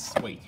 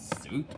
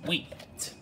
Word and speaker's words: suite: It's pronounced as sweet, not soup. It's sweet.